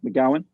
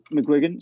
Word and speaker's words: McGuigan: Is that how you say his name? McGowan? McGuigan.